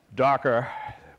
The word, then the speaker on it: Docker: So obviously, anybody that's never seen me present, you realize that I speak proper English, so when you hear the word Docker pronounced correctly, we even created it, so it's Docker, Docker, Docker.